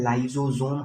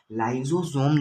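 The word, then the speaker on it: lysosome: दो चीज़ होता है, एक होता है लाइजोजोम, हमने पढ़ा होगा कहीं ना कहीं, नाम सुना होगा।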